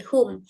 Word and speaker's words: whom: And then di sini wom whom sorry whom. Di sini W-nya enggak dibaca whom.